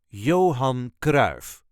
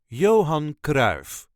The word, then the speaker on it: Johan Cruijff: a regular Dutch accent Johan KRA the legendary Dutch sucker football player coach and manager this is the way us duchies say Johan KRA Johan KRA there is no real emphasis on any part Johan K yo on